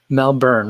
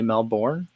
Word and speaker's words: Melbourne: Melbourne, right? I always want to pronounce all the vowels that are in there. I want to say Melbourne, but I don't think that's how people from there say that.